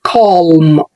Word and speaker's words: calm: خلي بالك ان الكلمة دي مش بتتنطق calm، مش بيكون فيها حرف ال L هنا silent، فبنقول calm. ركز كده مع المقطع الصوتي بتاعها calm.